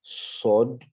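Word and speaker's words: صاد: Dans sa prononciation, il y a un sifflement. Donc, la langue reste dans la partie inférieure de la bouche.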